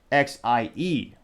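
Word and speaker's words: ze: The gender pronoun is Xie. So very close.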